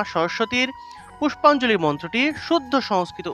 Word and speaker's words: সরস্বতী: এই যে বফলা যুক্ত দন্তস্ব, বফলা থাকলে এটা মূলত সুয় উচ্চারণ হবে। সুয় উচ্চারণ করতে হবে, অর্থাৎ এইভাবে সুয় উচ্চারণ করতে হবে। তাহলে সরস্বতী।